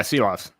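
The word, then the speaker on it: Šilovs: I think you're going to have to correct me on the pronunciation of his name. Silovs? Yeah, Silovs. Yeah.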